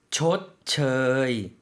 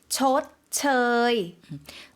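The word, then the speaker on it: ชดเชย: ช ด เ ช ย 의와 어의 중간 모음 저이라는 거 기억해 주시고요.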